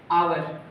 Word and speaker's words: hour: आवर में H है वो साइलेंट है, तो इस वजह से H साइलेंट होने से इसकी ध्वनि आती है आवर, और इसके पहले एन का उपयोग होगा।